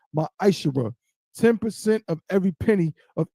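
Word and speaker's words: מעשר: You can find this in numbers 18 and 21 and Malachi 3:es 8-10 means 10th in Hebrew is pronounced my eyesher 10% of every penny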